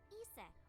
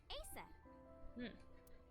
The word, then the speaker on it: Isis: Horus's mom is named Isis, but in ancient Egyptian, it's pronounced closer to Ise or Asa.